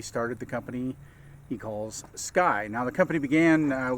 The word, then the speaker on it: SCCY: some C's and so when you look at it pronounce it Sky not you know I tried SK or but it's it's Sky uh anyhow they uh